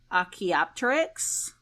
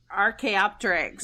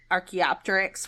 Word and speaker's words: archaeopteryx: the um and bear with me on the pronunciation here the akiopteryx archaeopteryx yes rk optics oh my gosh that was